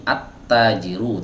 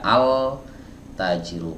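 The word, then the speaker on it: التاجر: harus dibaca Alba bu tapi di sini attajiru tidak boleh dibaca Al tajiru Kenapa nggak boleh dibaca altaziro ya masih ingat jawabannya teman-teman di video sebelumnya sudah kita bahas karena huruf ta adalah huruf Syamsiah huruf ta adalah huruf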